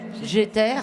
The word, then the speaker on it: Jeter: Jeter. C'est comme ça qu'on prononce? Oui, Ok. comme j'éternue. D'accord.